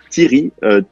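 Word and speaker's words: Tieri: Comment on dit Thierry? Tiri, T-I-E-R-I.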